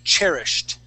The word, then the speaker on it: cherished: First off, the word cherished. Cherished. Yeah, so it's cherished. Cherished. Cherished. Cherished. Good, good. And that's going to be a T sound at the end there.